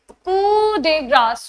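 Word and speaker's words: coup de grâce: This is कू डे ग्रास। आई अब अभी-अभी I told you इट्स कू। Right? कू डे ग्रास।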